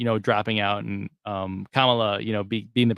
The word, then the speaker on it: Kamala: apparently the right pronunciation is it supposed to be like Kama like you know like a comma in a sentence K LA but Trump will go Cala um so such a